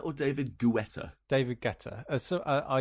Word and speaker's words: Guetta: well I was gonna say you look more david guetta than robot later no know is who's david